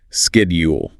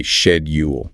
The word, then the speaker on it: schedule: Americans often say schedule. Brits often say shedule.